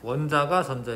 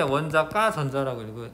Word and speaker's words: 원자가 전자: 원자가 전자 이게 아니라 바깥쪽, 뭐 가쪽이라고 해서 가쪽, 원자 바깥쪽에 있는 전자. 읽을 때 원자과 전자라고 읽으시는 게 좋아요. 원자가 전자라기보다 원자과 전자라고 읽으시면 그게 더 나아.